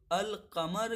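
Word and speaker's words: القمر: वो ज़ाहिर होता है, यानी कि अशम्स में लाम मुखफ़फ़ रहता है और अल कमर में लाम ज़ाहिर होता है।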